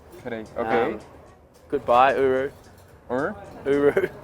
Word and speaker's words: G'day: Okay, just like g'day.